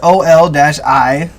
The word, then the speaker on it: oligarchy: Oh, because it says OL-I-gar-key.